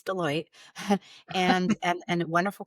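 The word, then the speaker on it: Deloitte: global brand, wellrecoognized brand, some people can't pronounce Deote, but it's Deote and and and a wonderful company.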